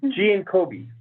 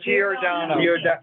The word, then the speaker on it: Giordano: Commissioner Giancobi. I said it wrong. Giordano. I have to apologize to my Aunt Betty for mispronouncing an Italian name now, and I apologize for that.